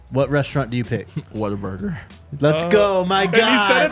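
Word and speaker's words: Whataburger: let's go my God he said it the right way he said what a burger I the honey butter chicken biscuits i' I'd lose my mind Jake why don't you tell Tyler how you say it waterburger I mean you're from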